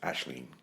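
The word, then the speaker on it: Aisling: and she her so hers is an Irish name a i s l i NN we can call her aen though the proper Irish pron pronunciation is ashleen okay why don't you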